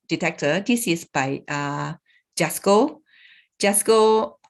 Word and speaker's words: JASCO: we use this detector this is by uh jasco just go not the beyond the shopping mall